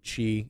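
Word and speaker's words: χ: uni uh king hearts x or chi is the official pronunciation of that new letter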